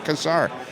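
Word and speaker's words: Cassar: who from australia and it's c-a-s-s-a-r and he pronounces it kasar and it sounds so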